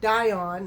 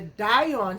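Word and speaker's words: Dyon: I think that's how you say it, Dion, like D-Y-O-N.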